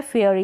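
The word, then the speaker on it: fairy: last में जब भी वाई आता है, लिखा तो इस तरीके से जाता है बड़ी ई के रूप में, फेयरी, हम इसको लेकिन बड़ी ई के रूप में प्रोनाउंस नहीं करते हैं, ई का, इसमें ई का उच्चारण देते हैं, छोटी ई का उच्चारण, छोटी ई के रूप में इसको प्रोनाउंस करते हैं, फेयरी, फेयरी, इस तरीके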